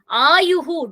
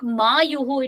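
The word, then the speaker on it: आयुः: Ayuhu, don't take Mayuhu. It doesn't make any sense. It is not a word.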